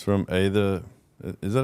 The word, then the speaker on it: Aether: The art of the ether. Has an A in front of it. Ather Ether doesn't have an A in front of it. No. Silent letters, man.